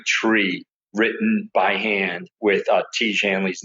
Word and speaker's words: Tiege Hanley: So you've heard it from Kelley, Tiege Hanley.